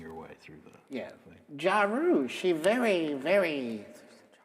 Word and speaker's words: Jaru: of Coles because also did you say her name was Ja Rule is that what you said well I mean that's her name now uh no her name is jaru j-a-r-u okay um she does